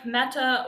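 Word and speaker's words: μετά: saw this one earlier meta or sometimes it's met or meth um it's with or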